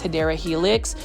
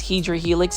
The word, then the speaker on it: Hedera helix: For those that are new to my channel too, I mispronounce Hedera helix as Hedra helix.